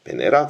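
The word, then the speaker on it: Венера: 영어의 비너스에 해당하는 러시아 발음인 베네라 계획입니다.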